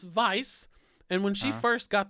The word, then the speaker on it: Weisz: Rachel Weisz the Rachel vice movies I okay yeah the mommy oops mummy franchise alright the Rachel Weisz continuum this w/e i said scent right yeah yeah funny story it's it's pronounced vice and when she first